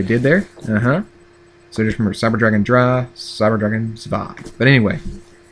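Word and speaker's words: Cyber Dragon Drei: It's pronounced Cyber Dragon Dry.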